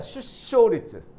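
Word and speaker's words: 就職率: 슈세리츠라고 읽으시는 분들이 많아요. 물론 일본 사람들도 이거 슈세리츠라고 읽는 분들 있어요. 상당수 있어요. 슈쇼리츠라고 읽으셔야 합니다. 슈쇼리츠. 슈쇼리츠라고 읽으셔야 돼요, 여러분들.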